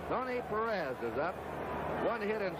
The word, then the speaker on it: Perez: of that cincinnati lineup we anglicize his name it's the way they call it in cincinnati his hometown and most of the announcers perez perez is the spanish pronunciation but we get some